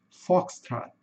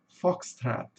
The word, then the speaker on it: Foxtrot: No inglês americano, eles têm o costume de O ter um sonzinho de a foxstrat. Foxtrat. E no inglês britânico é com sonzinho de o mesmo.